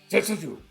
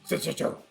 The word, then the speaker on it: Senjutsu: Senjutsu. That's the proper samurai pronunciation of the new Iron Maiden album. Senjutsu.